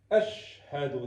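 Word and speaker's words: أشهد: Басымны менә монда шин хәрфенә куярга кирәк. Әшһәду дияргә кирәк.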